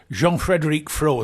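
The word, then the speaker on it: Jean-Frédéric Frot: I'm here with Freddie Frott, or Jean-Frédéric Fro, as it should be pronounced, when we're in France, but we're back in England now, for a little Retromobile retrospective.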